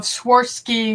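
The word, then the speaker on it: Swarovski: oh that's pretty of sworski sworski sworski how you say it crystals swy there you go like someone you swore off skiing swore off ski that's really pretty I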